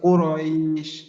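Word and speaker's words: قريش: কুরাইশ। হ্যাঁ, ওই যে কফ পেশ কু, তো আমরা জানি পেশের ক্ষেত্রে ঠোঁটটা গোল করতে হয়। যদি ঠোঁটটা গোল করি তাহলে এই উচ্চারণ অন্যদিকে যাওয়ার হয়তো বা সেরকম সুযোগ নেই।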